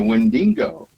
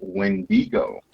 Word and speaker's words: Wendigo: So, the Wendingo or sorry, rather wendigo. Uh How how do you pronounce it? The experts that I talked to said windo. Okay. Wendigo. Wendyo. I've been saying it all wrong.